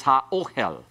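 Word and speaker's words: הָאֹהֶל: It'll refuse doubling. Therefore, the tent is ha-ohel.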